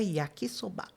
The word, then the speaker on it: yakisoba: Em japonês não existe a sílaba tônica. Hum. Não existe uma sílaba mais forte. são todas com a mesma força, digamos assim, só que ele vai diferente. Então, no caso do Yaki Soba, que os brasileiros assim pronunciam, em japonês ficaria yakiquisobá.